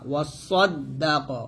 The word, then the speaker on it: وصدق: এখানে সদ উচ্চারণ সদের মতো করবেন, সিনের মতো না, ওয়াসাদ্দাক, ওয়াসাদ বলবেন না, সদ মোটা করে, وصدق بالحسنى حاسين পেশ